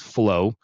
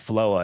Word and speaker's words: FLOA: Protocol, FLOA, but pronounced flow. A lot of people call it FLOA, and I'm like, I get why they call it FLOA, because anyways, but the idea was flow, like go with the flow.